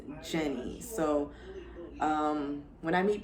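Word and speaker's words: Jeanne: spelled a little differently it's spelled j-e-a-n-n-e i know it sounds like gene or genie or i get it all i get janine i get jian it's none of that it's jenny um a lot of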